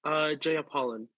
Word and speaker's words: Jeyapalan: My surname, Jeyapalan.